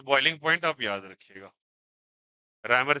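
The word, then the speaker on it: Réaumur: रैमर scale बोलते हैं, REAUME spelling होता है।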